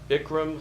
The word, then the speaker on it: Bikram: And according to our little form we have you fill out, you like Bikram hot yoga? Yes. Did I pronounce that right?